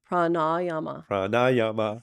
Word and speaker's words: pranayama: Le Zeppelin yeah so you see the line over the a that means it's long so a rather than uh okay so PR yep